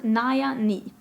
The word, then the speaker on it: Nayani: It says pronounce Naya Ni.